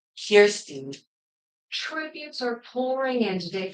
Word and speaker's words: Kirstie: everybody calls her Kirsty, but now I think the real way you pronounce it is Kirsten.